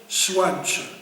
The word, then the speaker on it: Zwaantje: D'ici, on prononce Zwaantje. Zwaantje, voilà.